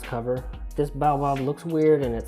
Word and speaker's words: baobab: how to pronounce it it's baobab baobab it's like an African tree or something like that